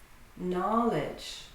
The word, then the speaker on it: knowledge: Knowledge.